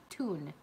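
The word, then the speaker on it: Tuen: this to people before, it's like singing a tune. But the E and the N are flopped. So it's like T-U-E-N, but you'd say it like tune at the end of our last name. Mm-hmm. So, right? Yes. So like you're singing a tune, but T-U-E-N instead of T-U-N-E.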